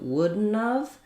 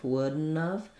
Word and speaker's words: wouldn't have: When it comes to wouldn't have, thinking about that as wouldn't have. And that D, again, is not really released, so it's almost like wouldn't.